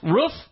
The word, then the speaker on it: roof: It is roof as in hoof, not roof as in poof.